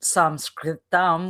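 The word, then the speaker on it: संस्कृतम्: And then the question or the observation of what is called in Sanskritam, which is Sanskrit, that's how you say it.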